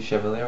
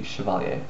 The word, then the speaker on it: Chevalier: her name properly but luckily um one of my subscribers told me I to say her name properly thank you very much and so now I can say her name properly Tracy chaler hopefully that's how you say it I'm pretty sure